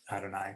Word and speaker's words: Adonai: But again, I'm pronouncing it Adonai because it's in place of Yud Hey Vav Hey.